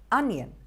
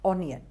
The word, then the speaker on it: onion: Onion, the O is pronounced with an R sound, onion, and not onion.